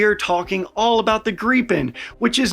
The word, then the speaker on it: Gripen: I am once again Kyle and today we are talking all about the Grien which is not pronounced gripen which is how I had been pronouncing it because I had only ever read about it.